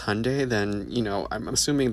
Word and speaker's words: Hyundai: Because Hyundai, pronounced like Sunday, not Hyende, like you're saying, is a Korean company.